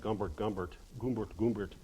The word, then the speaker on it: Humbert: it by suggesting that Humbert and Claire Quilty, whose name in Russian is, Nabokov translated Lolita into Russian, and if you translate Humbert, there's no H sound in Russian, so it comes out Gumbert.